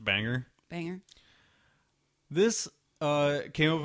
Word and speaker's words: Bangor: And I believe it's pronounced Banger.